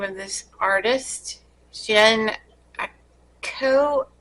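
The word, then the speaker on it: Jhené Aiko: Jen Ako. It's Jheneaiko, and the song is BS.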